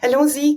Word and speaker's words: Allons-Z: You are the founder and also owner of Allon-Z Coaching. Am I saying that properly? Is that Yes. how you say it? Yes, that's perfect. Allons-Z Coaching, and just a background, Allons-Z is the French for let's go, Cool.